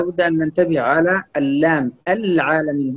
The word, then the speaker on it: العالمين: أن ننتبه على اللام العالمين. بعضهم يقول العالمين وهذه خطأ، نقول العالمين، العالمين، هذه الصحيح، ليس العاء، العاء، كأنه فخم اللام وفخم العين، وهذا من الأخطاء التي يخطئ بها كثيرا من القراء هنا في إندونيسيا.